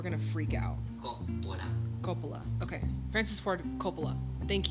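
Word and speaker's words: Coppola: wrong people are going to freak out Copa Copa okay Francis for Copa thank you so naturally Copa was not the First Choice others being considered were Peter bogdanovich and Sergio Leon Evans chief assistant insisted that Copa be recommended for director now at this time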